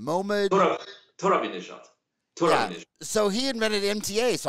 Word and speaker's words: Mohammad Torabinejad: Mohammad Torabinejad.